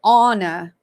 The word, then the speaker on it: Ana: Okay, so he pronounced it Anna, and I've been saying Anna. So ANA normally is pronounced Anna.